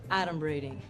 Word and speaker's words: adumbrating: Okay, first of all, it's pronounced adumbrating.